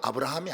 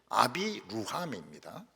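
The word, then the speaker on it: אברהם: 아비 루함이라면 진짜 발음은 아브라함이 아닙니다. 아비 루함입니다.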